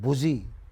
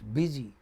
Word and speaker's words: busy: and the same u is not pronounced like oo in the next word it's not boozy it becomes busy you know I Y